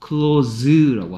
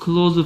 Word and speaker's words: close: Z 중에서 닫다란 뜻일 때는 S가 Z 소리를 내서 close라고 합니다. 하지만 가까운이나 친한이란 뜻일 때는 S가 그래서 close friend야, close friend야, close friend.